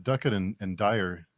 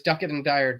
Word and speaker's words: Duckett and Dryer: And the your series is the Duckett and Dryer. Am I pronounced that right?